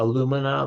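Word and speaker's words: alumina: Uh, aluminina, like aluminum. It's spelled like aluminum without the the the N at the end.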